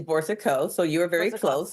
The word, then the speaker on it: Boursiquot: be everything to everybody the correct spelling the pronunciation is Bor Co so you are very